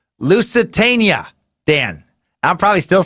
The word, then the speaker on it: Lusitania: Thornton who writes in all caps jesus-tap-dancing-christ it's pronounced Lusitania Dan I'm probably still saying it wrong loose